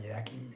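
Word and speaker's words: Yaqui: Iraq yaki American Indian descent I think I pronounced that right yaki y au Qi okay he was traded at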